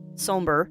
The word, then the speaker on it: Sombre: told yesterday that uh the way it is spelled is the European way of spelling Sombre. Sombre, excuse me. Not Sombre. Sombre.